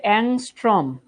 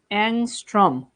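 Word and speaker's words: ångström: এটা হচ্ছে অ্যাংস্ট্রম। অ্যাংস্ট্রম, এটার উচ্চারণ অনেকে অদ্ভুত কি কি জানি উচ্চারণ করো।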